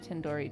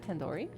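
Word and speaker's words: tandoori: Surely you at least recognize Tandori chicken. You're saying it wrong. Wait, really? Tendori. Tendori. The do isn't like door. It's like doodoo head.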